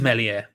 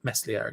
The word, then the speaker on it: Meslier: It is Melier. Okay, like French, so without sadness. Thank you. I appreciate that. Melier it is. I shall pronounce it correctly from now on, until I inevitably forget and call him Meslier again.